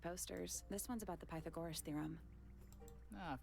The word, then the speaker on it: Pythagoras: say it any good is it not Pythagoras Pythagoras is that true it's not Pythagoras I've been putting the emphasis on the wrong cabel this whole time homemade posters this one's